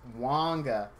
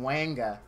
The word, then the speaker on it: Wonga: Now, the stream that I pulled him, I was not aware that this is pronounced Wonga. So I got the giggles like I was freaking 10 years old because I kept calling him Wanga.